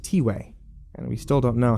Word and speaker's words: Tiway: who aren't caught up it's pronounced t-way and we still don't